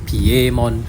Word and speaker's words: Piemon: It's pronounced Piemon because of the Romanji that you can tell. And its origin of that name is spelled P-I-E, but it's not Pi, right? It's actually Piero.